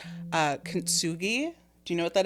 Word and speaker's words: kintsugi: Have you ever done, and someone correct me if I'm saying it wrong, but I think it's pronounced kintsugi.